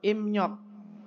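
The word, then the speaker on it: 입력: kemudian ada tulisannya iok Bacanya adalah ipnyok tapi karena B ketemu dengan n dibaca apa M berarti menjadi apa imnyok imnyok input data memasukkan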